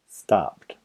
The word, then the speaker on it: stopped: Stopped. Walk en el pasado. Walked. Dance y en el pasado. Danced. Stop tiene el sonido p y p. No hay vibración, es un sonido sordo, entonces pronuncia stopped.